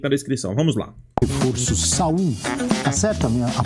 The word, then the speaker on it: Saúl: Reforço Saul. Tá certa a minha a pronúncia? Não tem segredo aí, né? Saul.